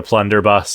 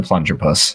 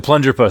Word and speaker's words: Plunger Puss: name of my gun could you please say it correctly it is the plunger puss the plunger puss like like I can't